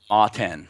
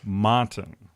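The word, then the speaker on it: MATEN: Matten. Matten. Matten. So Okay. you've got the 10 in there. It actually stands for Mega Arms Tactical Enforcer.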